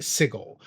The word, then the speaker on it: Sigil: name of a city, Sigil. Did he pronounce that wrong? No, I didn't. Technically, the city is pronounced Sigil, but however you want to pronounce it in your world, it's fine.